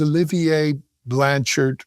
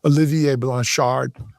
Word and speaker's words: Olivier Blanchard: His name is Olivier Blanchard or as properly pronounced I'll do my best French accent. Olivier Blanchard Blanchard something like that.